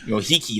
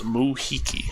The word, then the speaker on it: Muhiki: Mohiki, that's how you say it. Thank you very much. It is Tiki, but it's Moo. And take out the T sound, so it's Muhiki.